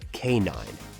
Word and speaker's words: K-9: The film's title, K9, refers to a specialized police dog unit.